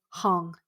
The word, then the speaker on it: Hong: So Joo-yun, Jooyun, Joo-hyun, Jooyun, Hong, Hong, like Hong Kong, Joo-yun Hong.